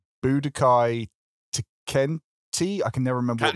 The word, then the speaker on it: Tenkaichi: original series was called Dragon Ball Z Budokai Tenkaichi. I can never remember what the last word was. I always said Budokai Tenchi when I was a kid, and then I realised it's like Tenkaichi or something like that.